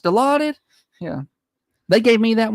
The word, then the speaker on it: Dilaudid: Is that what it's pronounced? Dilaudid?